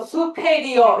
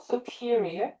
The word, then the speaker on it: superior: superior. 이렇게 써있어. 네, 자, 그렇게 읽으시면 안 되고, superior, inferior.